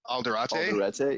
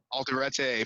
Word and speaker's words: Alderete: nick reinhardt and um i i can never pronounce his name correctly because i'm bad at that but uh uh juan juan alderate yeah yeah alderete from you know the mars volta big sir